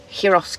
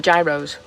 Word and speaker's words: gyros: you've got to have heros kebabs or gyros or whichever way you want to pronounce it but it's the